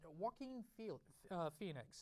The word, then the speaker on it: Joaquin Phoenix: They're going with Arthur Fleck this time, and it's played by Joaquin Phoenix. I'm not going to screw that up, but I could. It's really not phonetically right.